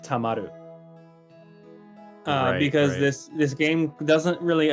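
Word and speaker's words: 溜まる: oh, okay, this is supposed to be pronounced tamaru.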